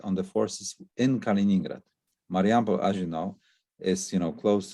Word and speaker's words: Mariampol: One near Mariampol, between Warsaw and Vilnius, west of the main axis to Vilnius, perfect tank terrain that could have a pinning effect on the forces in Kaliningrad. Mariampol, as you know, is close to the Kaliningrad,